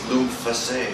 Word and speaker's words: Lupfesse: Our vet could not figure out that it's pronounced Lupfesse. It's not a lump face. We were like, no, it's Lupfesse.